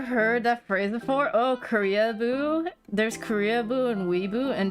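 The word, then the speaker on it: Koreaboo: Korea-boo? Oh, it's spelled like Korea, like the country, and then boo. Korea-boo. Yeah. No. I'm surprised you haven't heard Korea-boo.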